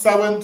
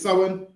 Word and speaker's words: Samhain: So it's spel but it's pronounced sin. So that word is sin.